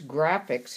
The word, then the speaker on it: Grafix: Or you can buy this Graphics. It's spelled Grafix.